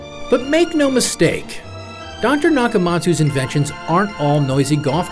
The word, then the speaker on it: NakaMats: that includes a wig for self-defense meet yushiro nakamatsu you may notice his name is spelled nakamats he dropped the letter u because